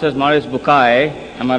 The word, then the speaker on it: Maurice Bucaille: and a scholar of Quran Dr moris buk pronounced as moris bukai am I right doctor matter okay uh he's